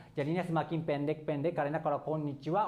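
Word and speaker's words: こんにちは: Jadi ini cara bacanya wa. Jadi teman-teman tolong langsung hafal aja konnichiwa walaupun tulisannya H.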